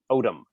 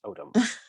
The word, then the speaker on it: Odom: Odom. There was a character on Star Trek called Odo, so that's Odom. Cool. Yeah, autumn would be the autumn in New York, like the season.